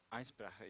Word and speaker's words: Eisbrecher: Eisbrecher, yeah.